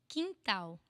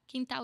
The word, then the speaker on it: quintal: No fundo do quintal. Quintal is backyard. Quintal. Quin. It's the sound again, this nasal thing, like inside.